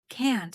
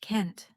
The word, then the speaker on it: can't: In American English, can't is often pronounced Kent. In British English, it's can't.